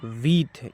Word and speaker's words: with: देखिए बिग बोले आई का उच्चारण ई होगा, तो बी आई जी बिग। के आई डबल एल कील, WITH वीथ, इसको हम वीथ पढ़ेंगे।